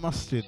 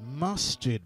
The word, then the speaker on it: Masjid: And listen, say it correctly, it's Masjid, bro. On the bus stop says East London Mosque. True. Shout out to the uncultured UK dons, yeah? But it's Masjid, my brother. Yeah, Masjid.